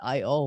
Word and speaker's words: IIOIOIOII: And so you decided to just call it I-O when you Yep. pronounce it.